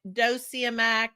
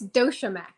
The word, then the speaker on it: DociaMack: the house Rebecca from how do you say it doia dossia help me out it's dosham actually um why can I